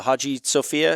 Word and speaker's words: Hagia Sophia: We went to see some of the I forget how to pronounce it. The Hagia Sophia, is that the correct pronunciation of that?